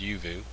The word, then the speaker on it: Uvioo: even though it looks like uvo is actually pronounced yuvu you anyways um it's a website that actually